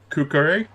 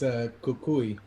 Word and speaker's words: Kukui: Okay, and what about Kukure? Is that how you pronounce it? It's Kukui. Kukui. Excuse me, Kukui.